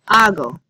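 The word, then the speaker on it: hago: form is funny it's AO the H is silent remember but the rest of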